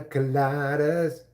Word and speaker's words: colada: You like pina coladas. Colada doesn't rhyme with holla.